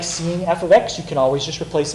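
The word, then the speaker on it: f(x): The second one has this f parentheses x. That's not how you say it. Does anybody know how you say f parentheses x? Yep. Yeah. F of x.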